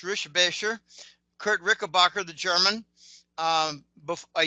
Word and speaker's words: Rickenbacker: I've actually met Kurt Rickenbacker, which is actually pronounced Rischebacher.